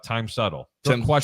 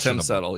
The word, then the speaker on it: Tim Settle: It's spelled time. Well, you spelled it wrong then because it should be Tim.